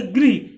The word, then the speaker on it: गृह: तो इसको इस तरह से उच्चारण करेंगे गृह, तो जब हम इसको रा को ऐसे उच्चारण करेंगे तो मुंह का आकार भी ऐसा ही देगा, जैसे गृह, गृह। और इसका गृह माने होगा घर, और जब इसका उच्चारण करेंगे ग्रह, तो इसका अर्थ होगा प्लैनेट, जिसको बुध शुक्र पृथ्वी बोलते हैं।